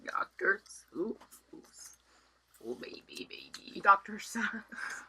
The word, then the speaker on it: Seuss: Seuss.